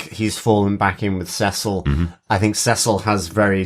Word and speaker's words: Cecil: drunk parent and still can't cope with C-cell as the mispronunciation of Cecil. Very good, Dr. Absolutely. Finally, seashells on the seashore, Cecil.